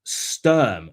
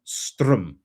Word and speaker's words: Sturm: He says it's Sturm, not Strum.